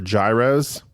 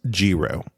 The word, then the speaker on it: gyro: say everything mmm and what I often have called eros or gyros he says mix those two together it's Gero Gero that's what he said